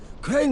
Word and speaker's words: Crane: name is crane okay crane rhymes with train and brain and sane and gray and rain and plane and the other kind of plane and and can I